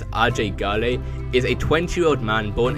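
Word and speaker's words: Ajay Ghale: who they actually are AJ Gil pronounced by the locals of kirat as RJ gy is a 20-year-old man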